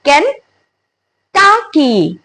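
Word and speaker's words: Kentucky: इ दिस कन टकी इट्स नॉट टकी इट्स कन टकी कनकी या सो केंटकी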